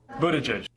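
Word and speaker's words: Buttigieg: well let's listen to how he says it buta judge so it's not Pete Buddha judge Pete Buddha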